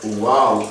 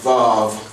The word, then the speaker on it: Vav: But according to that Ashkenaz, they don't pronounce it as Waw, but they pronounce it as Vav.